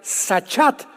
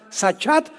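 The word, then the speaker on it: שחת: También es importante porque la palabra hebrea sachat se escribe con s Samuel y ch como suena sachat con té de tío al final y esta palabra significa corrupción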